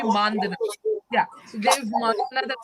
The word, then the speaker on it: Mandhana: Sorry, I pronounced the name wrong. It will be Mandana.